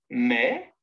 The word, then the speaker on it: mais: Mais, M-A-I-S, se prononce mais. Maïs, M. C'est qu'on avait dit mais ou A, I, tréma, S, se prononce maïs. On prononce le I séparément. On dit donc maïs.